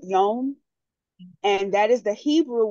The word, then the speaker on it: yom: And the word that we learned was yom, and it rhymes with home. You know, I think I'm saying that right. Yom.